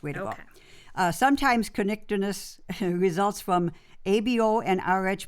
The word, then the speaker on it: Kernicterus: By the way, that condition is spelled Kernicterus. I'm going to go with Kernicterus. Kernicterus.